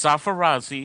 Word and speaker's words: Sarfarazi: No, it's Sarfarazi. It's just the way it's written. It's easily pronounced.